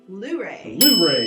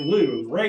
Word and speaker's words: Luray: yep which is well I would always have said well right but that's not correct it's Luray You Gotta Get Loose Ray in the last one